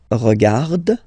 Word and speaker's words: regarde: So phonetically, only one form here.